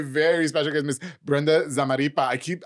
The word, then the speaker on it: Zamarripa: My very special guest, Miss Brenda Zamaripa. I swear to God, I'm going to mess up that last name soon. You're saying it right. Zamaripa is here with Simply Poppin balloons.